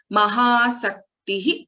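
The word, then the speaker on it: महासक्तिः: Is it not Mahashaktihi? Is it Mahasaktihi? So both are different. Here Mahasaktihi means with Maha-asakti, interest.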